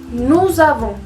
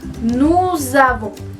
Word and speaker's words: nous avons: En ese caso, la S sí se pronuncia y se junta con la A de la siguiente palabra.